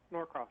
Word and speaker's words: Norcross: How do you pronounce that? Norcross.